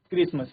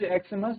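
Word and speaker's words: Xmas: क्रिसमस का बट इट is usually pronounced eight क्रिसमस। इसको क्या है? क्रिसमस प्रोनाउंस किया जाता है। एक्समस सो it takes a it pronounce एक्समस the article B एन।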